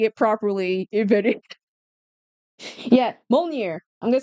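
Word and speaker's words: Mjölnir: Yeah, Molnir. I'm gonna say Molnir. That's like the closest pronunciation to this whole thing.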